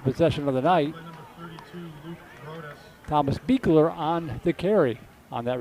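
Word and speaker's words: Buechler: c h l r but it's pronounced beer so good to get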